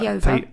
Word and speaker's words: Peover: Saturday we went to a pub in Peover. We say it wrong. Peover.